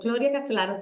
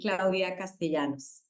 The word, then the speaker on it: Claudia Castellanos: In Spanish, we pronounce the double L like you. So Claudia Castellanos is absolutely fine, but if you want to be pronounced in the Colombian way, it would be Claudia Castellanos.